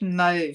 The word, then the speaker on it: mauve: wheat Moody move and yes it's mauve pronounced move here in Australia I've had some Americans